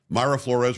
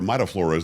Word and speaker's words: Mayra Flores: Mayra Flores, or Mayra Flores, depending on how you want to pronounce it.